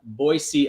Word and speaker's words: Boise: joined by my co-host, Landon Mance, freshly in Boisee, Idaho. It's been over a month now, so I don't know, maybe we shouldn't even mention that it's fresh or it's new. You're like, you know, pronouncing Boisey the right way.